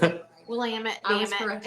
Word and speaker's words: Willamette: Willamette. I was Damn it. corrected. It's Willamette. Damn it. If you're ever wondering how to say it, it just rhymes with damn it.